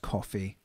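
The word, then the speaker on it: Ko-fi: Kofi over at um Kofi that is k- fi it's pronounced coffee like is in bias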